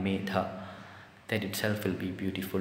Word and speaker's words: Medha: Even just use the Medha, pronounce the Dha hard in Medha, that itself will be beautiful.